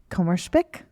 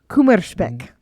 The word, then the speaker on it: Kummerspeck: Michael, okay, have you ever heard the word Kummerspeck? Kummerspeck. No, never. It's German, if you couldn't tell by my poor pronunciation. This is a German word, and I think I'm saying it right.